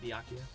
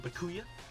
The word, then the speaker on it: Byakuya: Obviously that's not how you say it, Byakuya, but I call him Bakuya.